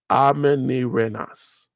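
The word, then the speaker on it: Amanirenas: Amenirenas. That's how you pronounce that name.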